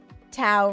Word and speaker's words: tau: Tau rhymes with cow is 2 times pi.